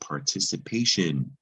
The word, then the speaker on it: participation: going to be sip c followed by an eye is also a soft c sound so that is to sip and this is the word participation it's an abstract noun